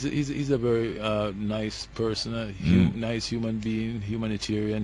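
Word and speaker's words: Knii: Ghana his name is Ni lante yeah it's spelled k n i i yeah the K is silent like KN your KN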